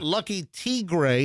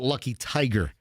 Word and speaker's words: Lucky Tigre: Lucky Tigre is how you technically pronounce it, but most people call it Lucky Tiger, and it's Armenia, right, Michelle?